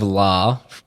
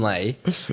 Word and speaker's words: Lay: We have L of what? He's completely butchered your name. Li. I mean Lay.